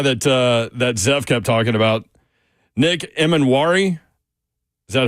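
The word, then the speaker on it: Nick Emmanwori: Nick Emanwari. Is that how I pronounce that, Zeph?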